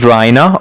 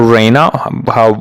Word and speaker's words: Raina: Protagonist is Raina or Reina, whatever the way you like to pronounce it.